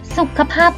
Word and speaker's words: สุขภาพ: คือ คำ ว่า สุขภาพ สุขภาพ คำ นี้ อ่าน ว่า สุข ค่ะ ภาพ แบบ นี้ ถึง แม้ ว่า ตัว สะกด คำ ว่า ศุกร์ จะ เป็น ขอ ไข่ แต่ ว่า ก็ อยู่ ใน แม่ กก นี้ นะ คะ สุขภาพ คำ นี้